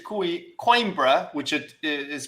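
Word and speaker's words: Coimbra: And he corrected me when I said Quimbra, which it is pronounced quimbra.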